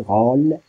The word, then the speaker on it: rôle: Le E à la fin, il ne se compte pas. Donc rôle, comme dans la transcription phonétique ou bien l'API phonétique. Donc on dit rôle, R, O, ouvert et L, rôle seulement.